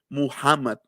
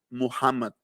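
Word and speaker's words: محمد: él pronunció como dicen como se dice el nombre de mahoma en árabe se dice muhammad muhammad s ese sonido no lo tenemos en el español entonces en el español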